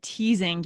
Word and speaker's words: teasing: this is tricky right if we haven't heard the word before we may assume it's just that s sound but it's actually the z sound okay so cousin reason